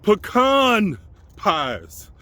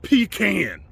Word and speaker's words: pecan: was she would cook pecan pies okay pecan pies not pecan do not come to me saying a pecan pie cause I'm gonna look